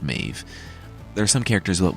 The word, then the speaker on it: Medb: sorry about that there are other changes like Mev actually being pronounced mave there are some characters that won't make another